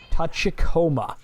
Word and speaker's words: Tachikoma: Tachikoma.